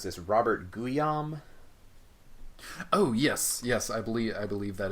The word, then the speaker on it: Guillaume: Right, and it was hard for me to separate the next character that we're gonna meet, who is how do you pronounce this? Robert Guillaume.